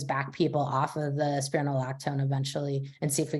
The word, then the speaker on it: Spironolactone: The question is, if you're on I don't know how to say it, spiraculone. Is that right? Spironolactone. There you go.